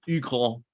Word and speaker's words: Hugh Grant: Hugh Grant it's hilarious they call him eagle the name Hugh in French is just it's just a sound like a monkey and then Paul they